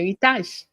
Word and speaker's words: Eritaj: Eritaj. That's how it is said and pronounced and written.